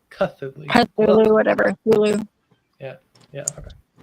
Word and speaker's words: Cthulhu: Thulu or Cthulhu? Cthulhu. Cthulhu, whatever. Thulu. Yeah. Okay. However you pronounce it. It does have a C, but I don't know that it's pronounced really.